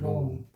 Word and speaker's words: Rome: 읽을 때 우리가 로마라고 하지만 영어로는 로마라고 안 읽고 로움이라고 읽어요. 로움. 우리말로 쓰면 로움. 로마가 아니에요.